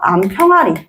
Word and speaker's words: 암평아리: 소리 날 때 붙게 되는이 히읗이 발음에서 축약해서 암평아리 자 발음이 암평아리 수닥이라고 하지 않잖아 수탁이라고 되는 현상을